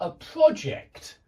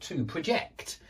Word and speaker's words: project: So we talk about a project but when we use the verb we talk about to project.